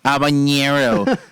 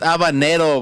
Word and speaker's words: habanero: Like I hate when people go like habanero. It's habanero, way. Fucking get it right.